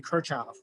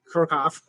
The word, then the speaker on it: Kirchhoff: course as a freshman, his name used to be Kirchhoff. And then over the years, I noticed that, hey, wait a minute, this guy is German. And obviously the pronunciation is not the same as our American pronunciation. And then I tentatively switched to Kirchhoff. And evidently the way they say it's Kirchhoff, they call it Kirchhoff.